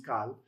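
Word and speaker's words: Qal: The cal, which can either be a K or a Q, either one, pronunciation's the same, is cal, is just simple.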